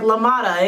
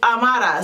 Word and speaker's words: Amata: He was like Lamata, and it's not Lamata, it's Amata.